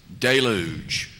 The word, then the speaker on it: deluge: Deluj.